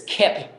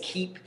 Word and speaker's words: Kiip: and I'll say hey it's keep like keep it real or keep going keep it up it's keeper and when